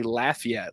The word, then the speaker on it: Lafayette: lafette it's not it they pronounce it the cajes down there they say lafette like Laffy Taffy they say la yet